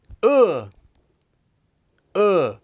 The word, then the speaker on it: 으: time to master uh it's kind of like someone punches you in the stomach uh uh if i've ever seen